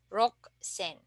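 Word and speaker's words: 六千: we say San Zen and then for 6,000 you can uh notice that it's underlined here so the spelling is the same but uh instead of uh pronouncing it rusen we will Dev vocalize the U or we don't need to pronounce the U and we can just say rock sen and and then lastly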